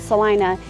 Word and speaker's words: Celina: So I'm Tiffany with Life in Dallas Fort Worth, and I really think that Celina, spelled Celina, but we pronounce it Celina, is one of the best kept secrets.